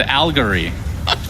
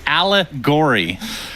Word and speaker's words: allegory: damage issues then sure I said aligor no you said algary what it's allegory okay whatever man get it